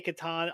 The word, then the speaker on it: Catan: I say Catan.